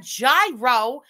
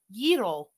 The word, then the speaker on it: gyro: Most people say gyros. She did say it right. People corrected her and she listened to them. It's gyros. She's really saying exaggerated, but yes, it's not a gyro. It's a gyro.